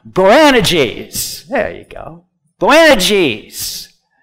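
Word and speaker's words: Boanerges: g say to it you got to put the emphasis on the right syllable here branna geez there you go Glen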